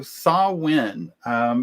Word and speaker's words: Samhain: Samhain was it, and it's spelled Samhain, which looks like Sam Hain, but it's pronounced Samhain.